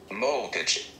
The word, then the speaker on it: molcajete: And I am going to try to pronounce it, molcajete. So after my crude pronunciation, I'm going to give you guys the proper pronunciation courtesy of the iPad. Molcajete.